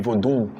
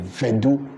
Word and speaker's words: Vodun: Voodoo is voodoo, whether you pronounce it vodun or you pronounce it vedu. Even some people even pronounce it vedu, and we in typical Anglo area it is pronounced vedu. Not even voodoo is pronounced vedu. So what do you call it? It is pronounced like that. So voodoo or vedu is the same thing.